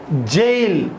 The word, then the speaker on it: gaol: me awake all night gaol jail yes we need to pronounce it as a jail junior so meaning is